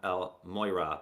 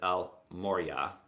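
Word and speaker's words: El Morya: sorry I get confused I always want to call him El Moira but it's Al Moriah maybe I'll just mispronounce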